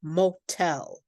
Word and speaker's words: motel: When the vowel sound, the second syllable is stressed and then we do say a strong popped t. For example, motel. You can hear that t, can't you? Motel or hotel.